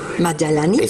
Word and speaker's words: Madjalani: Lo que pasa es que en el léxico árabe existe una letra que es la letra ya, que equivale a la conjunción de sonido de la D con la J. Entonces es muy difícil pronunciarlo. Por ejemplo, mi propio nombre, debiera estar escrito con la letra ya. Entonces, Madjalani, usando la letra ya. El fonema ya.